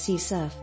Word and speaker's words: CSRF: protect your site from csrf often pronounced as sea surf you can also read